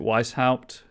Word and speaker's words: Weishaupt: Right, I know that games pronounce it Weishaupt, but I'm always going to pronounce it Weishaupt, so sorry about that.